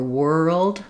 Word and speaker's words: world: In a word like girl or world, because the R and L are right together, people don't always realize there's still a sound in between them.